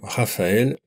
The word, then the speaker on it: Raphaël: Le E, autre voyelle avec un tréma, comme dans le mot canoë par exemple, dans le nom Raphaël, ou encore dans le nom Noël. Là, le tréma permet de bien prononcer séparément les deux voyelles.